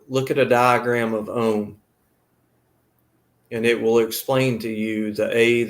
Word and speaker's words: Om: spelled now it's pronounced ohm but it's spelled a u m a and u beside of each other in sanskrit is pronounced o but if you separate